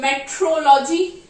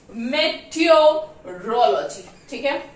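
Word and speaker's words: meteorology: spelling क्या है मीटरोलॉजी correct pronunciation क्या है मीटरोलॉजी मेट रोलजीन है और ये वाला कैलेंडर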